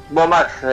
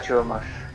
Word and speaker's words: HBO Max: Bomax, dice HBO Max. ¿Cómo le decía? Pero claro, después... le digo, era HBO Max, y entonces le dice Bomax. No le pronuncia la H, de la H muda.